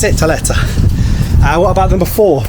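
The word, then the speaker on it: tlieta: to say TFA yes FFA in malti it's Teta I that's how you pronounce it Teta uh what about number four remember that yes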